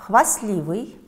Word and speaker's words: хвастливый: Хвастливый – проверочное слово «хвастаться». А значит, в слове «хвастливый» есть непроизносимый согласный «т».